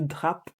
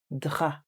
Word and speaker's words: drap: Please note the P is silent, so it's not le drap, it's le drap.